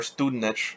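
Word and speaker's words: Studenič: a one goal game marion student or student niche i believe is how they pronounced it first goal of his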